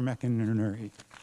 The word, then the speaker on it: McInerney: watched um Sesame Street you remember there are two characters Bert and Ernie you just make the first one into Mac right think about it